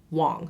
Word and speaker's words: Wang: Anyway, my last name is pronounced Wong, spelled W-A-N-G.